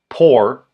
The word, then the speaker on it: por: Por rhymes with for.